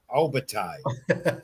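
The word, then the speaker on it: Opetaia: on ESPN, in Australia, Jaya how do you pronounce it? Obatai.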